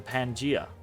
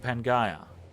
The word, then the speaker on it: Pangaea: I always thought that was a difference in, like, British pronunciation and American pronunciations. But it's Pangaea in both.